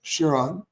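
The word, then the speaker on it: Çırağan: it's spelled c i r h n but pronounced shiron uh and uh run by an amazing legendary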